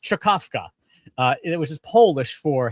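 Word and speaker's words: Czkawka: Uh the next one uh is an open source package called called believe it or not this this is pronounced chakovka uh which is Polish for hiccup.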